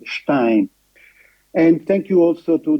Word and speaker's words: Stein: I would prefer to use the ordinary British pronunciation of his family name, Stein. Of course, this is how generally it is known here in Pakistan. We know perfectly that his name should be rather pronounced Stein.